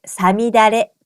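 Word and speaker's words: 五月雨: さみだれ式。5 月の雨と書いてさみだれと読みます。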